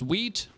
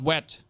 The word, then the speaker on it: wheat: yesterday we learned that wheat is pronounced wheat and not wet the problem is that